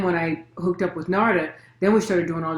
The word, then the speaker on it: Narada: yeah and is it narada or is it narda i've i've always been saying it wrong if it's not narada it looks like narada because that's the way it's spelled and that's the way